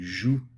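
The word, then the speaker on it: jouent: In this case, the fact that the first, second, third person all sound exactly the same, joue, joue, joue, as does the problematic third person plural, which is always an issue for students learning French. They want to say jouons. So the sooner you can get them into the habit of saying joue and really stressing that ENT is silent, then more likely that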